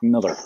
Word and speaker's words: Millar: put one out there mark miller i said not pronounced mallards miller just looks like millar that that's five five